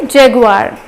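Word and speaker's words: Jaguar: सो ये जैगुआर होता है, बट एक्चुअली हम जब प्रोनाउंस करते हैं इसे तो हम जैगुआर बोल देते हैं, तो वो भी चलता है, बट इसका सही प्रोनाउंसिएशन है जैगुआर।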